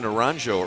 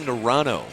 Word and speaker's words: Naranjo: I was saying Kevin Naranjo earlier in the first half, but it's Kevin Narano, right?